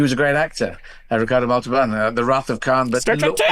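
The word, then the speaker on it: Montalbán: And I'm saying Montalban because there's an accent on the A, and I'm learning Spanish because I'm going to be touring more in Spanish, and that's where the accent should go.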